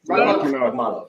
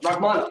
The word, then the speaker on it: Rakhmonov: Do you want to take a Rakhmonov. Rakhmonov. That's how you pronounce it?